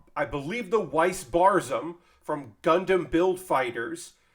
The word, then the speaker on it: Weiss: about this kit before i was saying um uh whis but it's weiss it could i could be wrong i believe the weiss barsom from gundam build